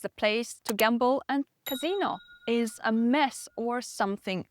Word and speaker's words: casino: Just move the stress to the last syllable. That's the difference. Casino, it's a place to gamble. And casino is a mess or something even more scandalous.